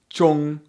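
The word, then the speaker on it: 中: For example, here's the character for middle again. It's pronounced chong.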